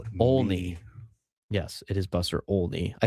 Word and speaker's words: Olney: Yes, it is Buster Olney.